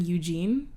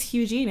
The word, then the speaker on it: Hugh-Gene: people are just like, are they mispronouncing Eugene? Yeah, I know. I was like, oh, but his name's not really Eugene. It's fucking But Eugene. no, his name is Hugh-Gene, everyone, with an H.